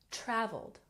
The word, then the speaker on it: traveled: z sound Keys good and traveled has emphasis on the first syllable traveled traveled Japan has emphasis